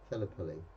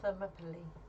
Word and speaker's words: Thermopylae: I can't even pronounce it. What's it? Thelopily. You can't say that. Thermopylae, yeah.